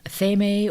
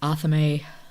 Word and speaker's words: athame: Apparently in Wicca and other witchy circles, it is most commonly pronounced with 3 syllables. Athame or Athame, something like that.